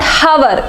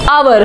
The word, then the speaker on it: hour: It is not hour, it's hour. H is silent again.